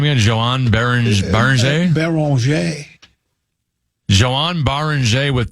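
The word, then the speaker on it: Beringer: Baranger.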